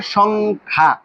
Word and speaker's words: সংখ্যা: তৎসম শব্দ উচ্চারণ করতে গেলে অবশ্যই এখানে যে খ বর্ণের সাথে জ ফলা রয়েছে এই জ ফলাটা দুইবার উচ্চারিত হবে না।